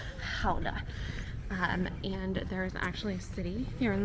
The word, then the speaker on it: Gouda: i moved over here how to pronounce the gouda that you see at the supermarket it's actually called houda um and there is